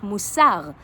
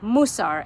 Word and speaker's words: Musar: And that started a genre in Jewish literature which is known as the literature of Musar, or Musar, as some of you may pronounce it.